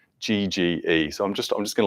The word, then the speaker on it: Yegge: He's published, there's a guy called Steve, I think I actually don't know how to pronounce his last name. It's Yegge.